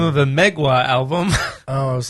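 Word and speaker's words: Mgła: Is it Mogwai? No, Megwa. Where are we? Oh, It's a black metal band. It's spelled MGLA.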